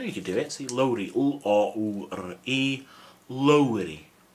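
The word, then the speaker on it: Lowri: Lowry. See, I know you can do it. See, Lowry. L-O-U-R-E. Lowry. Remember to roll the R.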